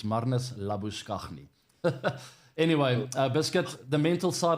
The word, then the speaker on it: Marnus Labuschagne: Marnus Labuschagne. That's how you pronounce it, by the way. It's not Marnus Labuschagne. Yeah. I know he likes to go by that name these days, but he'll never be Marnus Labuschagne in South Africa.